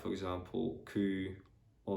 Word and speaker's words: coup: silent in receipt, so you don't have to pronounce it. And yeah, and also some other words like for example coup, or like cobbled.